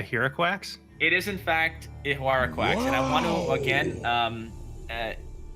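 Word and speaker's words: Ihuarraquax: Anyways, but it is in fact Ihuaraquax. Funny enough, the reason because I couldn't pronounce that card for so long, I did call it unicorn ass. That's all I called it for. Perfect. Ihuaraquax.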